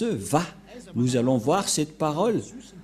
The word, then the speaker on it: Yahva: C'est pourquoi les gens disent Wa. Mais en fait, ce n'est pas Wa la vraie prononciation, mais Va pour les Juifs. Les Juifs le prononcent Va.